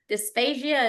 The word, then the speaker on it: dysphagia: Let's talk about the dysphagia.